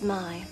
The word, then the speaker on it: May: names my name is my it's spelled may but it's pronounced my can you remember that